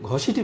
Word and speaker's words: ঘসেটি: আর আমাদের ঘসিটি বেগম, যার ভালো নাম হচ্ছে মেহেরুন্নেসা, আর তার ডাকনাম বা আরেকটা নাম ছিল গহসেটি। অ্যাকচুয়ালি সেটা উচ্চারণ হয়ে যায় ঘসেটি।